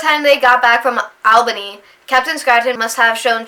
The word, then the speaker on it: Albany: Every time I see Albany, I always want to say Albany. I still want to say that, and that's not how it's pronounced. It's Albany. I'm still not might be saying it right.